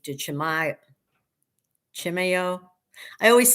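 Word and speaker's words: Chimayó: the Sanuario D Chimay Chimeo. I always say it wrong. I used to call it Chimayo and then I was corrected and it said it was like chimeo.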